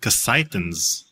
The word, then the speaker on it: Cassitans: So when I talked to Bill Tiller, it was the first time I heard the name pronounced out loud. So they are called Cassitans, and the planet is called Cassitas. Oh, see, I was pronouncing it so wrong.